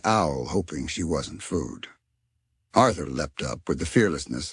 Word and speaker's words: Arthur: Arthur looked perplexed, having never considered his name as anything other than his name. It's just Arthur, he said, pronouncing the TH as clearly as he could.